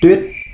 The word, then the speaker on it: Tuyết: U y y ê uyết. Tờ uyết tuyết. Tuyết. À, thế nó đều đọc là bà Tuyết.